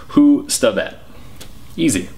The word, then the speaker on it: Hustvedt: really start this week some clarity on the pronunciation of my last name cuz some people are still confused by it so it breaks down like this three syllables who stet easy okay on to the